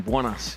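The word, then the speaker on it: buenas: you see yeah i did hear actually that the a in buanas should be pronounced more when it's good morning good day good afternoon rather than juana which is good anyway there we go education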